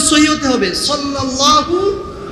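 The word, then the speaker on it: صلى الله: সবাই পড়েন সাল্লাল্লাহু আলাইহি ওয়াসাল্লাম সদ দিয়ে উচ্চারণ সহী হতে হবে সাল্লাল্লাহু আলাইহি ওয়াসাল্লাম তিন নম্বর চলে গেল চার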